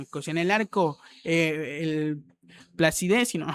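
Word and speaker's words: Placide: En el arco, el Placidé, si no, creo que así se pronuncia, ¿no? Sí, Placidé o con un acento más francés, creo yo.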